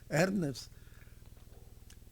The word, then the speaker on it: Ernest: Eu me lembro que tanto o Moisés como o Ernest, na verdade a forma de pronunciar é esta, Ernest, eles tinham conseguido manusear os equipamentos de física experimental que existiam no colégio.